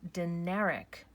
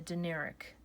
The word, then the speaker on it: Dinaric: It's called the Dinaric Alps, and that's spelled D-I-N-A-R-I-C. That's a C. And these are the Dinaric Alps.